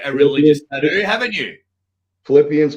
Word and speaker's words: Philippians: I can't do it do something from uh Phil Payne's 4 13. apologies involved pronounce that wrong I haven't uh I haven't read read the Bible there uh you you've got a a religion who haven't you Philippians 4 13 Philippians sorry Philippines strengthens me yes